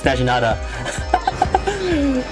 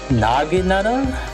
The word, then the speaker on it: Naginata: Naginata has the Naginata has the first A pronounced like an A and a hard G.